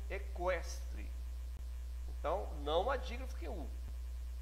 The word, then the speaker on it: equestre: Esse QU não faz dígrafo, porque eu pronuncio o Q e o U, equestre.